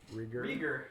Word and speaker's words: Rieger: Rieger.